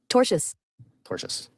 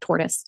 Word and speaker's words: tortious: It's tortious. Somebody in the chat said tortoise.